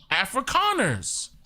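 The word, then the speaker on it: Afrikaners: still call themselves Africans right now, but it's pronounced Africconers with a K.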